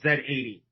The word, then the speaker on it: Z: Okay, there's that one and then there's another one called Z80 on the Danforth. Um, So, well, I know Americans pronounce it Z, but we pronounce it Zed.